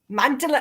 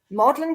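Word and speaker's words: Magdalen: name that's stupidly spelled and as for M magdalin I was always calling it magdalin college and modlin college is it why is this why is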